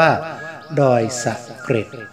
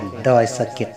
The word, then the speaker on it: ดอยสะเก็ด: ไซ้ ทำ ความ สะอาด แต่ เนื่อง จาก ว่า คน ล้า นา นั้น จะ ไม่ ออก เสียง รอ เรือ และ ร ลิง เมื่อ เขียน ตัว สะกด ตาม เสียง จึง กลาย มา เป็น ดอย สะเก็ด ดัง กล่าว ส่วน ตำนาน